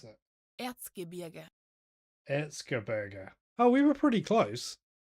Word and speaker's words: Erzgebirge: How they pronounce? Erzgebirge. Sorry. Erzgebirge. So They beat Nuremberg in the second round, 2-1. Who are Hang on, 10th in the this Bundesliga. is how you pronounce it. Erzgebirge. Erzgebirge.